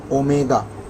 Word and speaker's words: omega: Guys, this looks like W, but please do not call this as W, it is omega. This is how you pronounce it, omega.